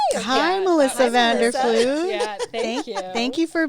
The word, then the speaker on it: Vanderfluit: we want to welcome melissa vanderflute i'm sorry if i butchered your last name you did it perfect hi melissa vander fluge thank you thank you